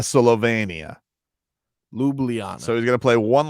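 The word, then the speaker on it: Ljubljana: hold on this is how you say it lublana lublana Slovenia lublana so he's gonna play one last game in lublana for Slovenian fans and Jimmy's gonna go sounds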